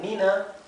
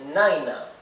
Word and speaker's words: Nina: O sea, esto debería pronunciarse Naina, Naina. ¿Y por qué se pronuncia Nina entonces? Porque con certeza este nombre viene de otra lengua. Entonces se incorporó al inglés como un nombre inglés, pero se mantuvo la pronunciación original, Nina, ¿bien?